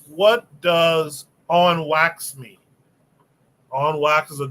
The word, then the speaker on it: wax: or make it official wax pronounced wa is the woff word for chat or conversation